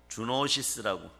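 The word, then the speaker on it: zoonosis: 주노시스라고. 그냥 발음이 그렇게 주노시스.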